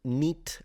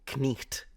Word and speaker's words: knight: And if you go even further back, then it would have been pronounced like a long E. So neat or knecht, if you really want to say it probably period accurate way.